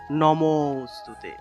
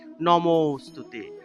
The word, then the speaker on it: নমোস্তুতে: করতে হবে এই যে আর আগের যে অংশটা থাকবে সেই অংশটাকে একটু টান দিয়ে উচ্চারণ করতে হয় অর্থাৎ লুপ্ত অ এর